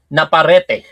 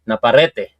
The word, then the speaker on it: Naparete: Naparete. Tama ba yung pronunciation o Naparet? Naparete.